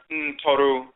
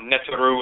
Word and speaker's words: Ntoru: tradition, the same terms, Ntoru, Ntorotu, the deities mispronounced Netoru and Netetu in ancient Kemet, but Ntoru, Ntorotu, forces in nature.